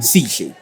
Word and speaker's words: Sihle: Stage name, nickname? Sihle. Sihle. But it's spelled as CHLEY.